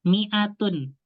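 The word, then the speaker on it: مئة: Cara bacanya Ustadz 100, niat apa namanya? Ya, Tinggalan banyak ya 100 mi'atun.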